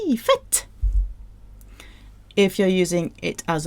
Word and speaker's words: fête: Fête. Fête. Spit out the T. Fête.